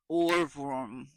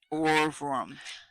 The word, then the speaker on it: Ohrwurm: Orworm. Orvrum. Orworm. Or Overum. Urworm. Nah, I think it's Orworm. Spell it. OHRWURM. And W's in Ooh. Germany, you say V, like BMV. Okay. Or like Bratwurst. Orvrum. Orvrum.